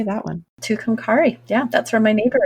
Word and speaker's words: Tucumcari: Tucumcari.